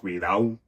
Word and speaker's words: cuidado: You have the deletion of intervocalic or word final B and something like cuidado being pronounced cuidao, or word final n being pronounced as an so more back in the mouth at the velar position.